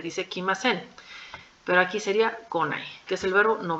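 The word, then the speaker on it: 来ない: el caso de venir aquí sí hay un cambio de pronunciación venir o llegar es el verbo curu Aquí vamos a cambiar la pronunciación q a co ya no va a ser ni q ni I sino es co con a entonces aquí sí Les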